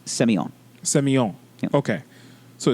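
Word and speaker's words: Sémillon: And the grapes are Sauvignon Blanc, and Semillon. You're close. I just hold on. Semillon. You're in the ballpark. Okay. So it is actually pronounced. Hold please. It is pronounced Semillon.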